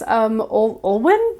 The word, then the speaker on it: Olwen: I know she's a French actress, Olwen, I think is how you say her first name.